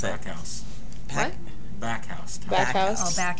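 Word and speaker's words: Backhaus: Specifically, I don't know how to pronounce it. backhouse.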